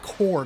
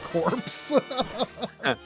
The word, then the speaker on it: Blast Corps: he said oh that's that's pronounced core not corpse it's another day